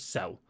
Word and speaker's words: XEL: So it's written XEL, but it's just pronounced as Cell, sort of like XL, but without the X in there.